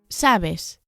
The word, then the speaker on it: sabes: Sabes. Notice that the stress, the accent here is on the first syllable.